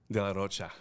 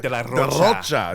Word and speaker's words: de la Rocha: Man, Zach de la Rocha. I have to say it like Spanish. Zach de la Rocha.